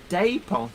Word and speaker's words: depot: as in day pole the O makes the a a long sound Depot yeah yes absolutely and